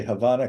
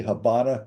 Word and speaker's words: Habana: for um for example in Americans would say Havana Kuba but it's actually Habana Kuba Kuba Kuba like a Q huh cu